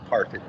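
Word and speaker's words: Parfet: And we've always said it was Parfit like carpet. My grandfather was George William Parfit, Jr., and he was Jefferson County Commissioner in 1939.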